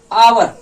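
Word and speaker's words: hour: समझते हैं दूसरा एग्जांपल अवर हा साइलेंट होता है देखो उच्चारण में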